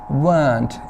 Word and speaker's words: weren't: आपने इसकी प्रोनाउंसिएशन भी याद रखनी. weren't, इसमें र नहीं बोला जाता है. ओके, ब्रिटिश इंग्लिश में र वाउल से पहले नहीं बोला जाता.